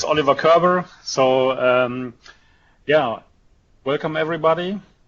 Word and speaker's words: Oliver Körber: the name the name was great so it's Oliver Kerber so um yeah welcome everybody to this coffee